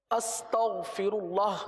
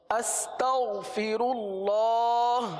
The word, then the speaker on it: استغفر اللہ: تلفظ کی درستی کے حوالے سے آج انشاءاللہ استغفر اللہ کی ہم مشق کریں گے. میرے ساتھ مل کر پڑھ لیجئے. استغفر اللہ، استغفر اللہ، استغفر اللہ.